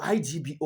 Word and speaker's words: Igbo: Now, the Igbo, I G B O, was not easy for them to pronounce.